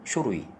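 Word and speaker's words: 書類: 종류는 슈루이 서류는 쇼루이 이게 조금 헷갈릴 수 있는데 많이 읽어보세요.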